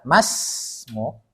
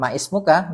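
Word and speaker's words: ما اسمك: ini kan satu kalimat maka dia enggak dibaca masmuk Bukan maismukah tapi mas masmuk tapi misalnya gini kita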